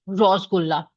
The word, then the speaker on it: Rasgulla: I have noticed people from Kolkata or the eastern parts of India often pronounce Rasgulla as like Rosgulla.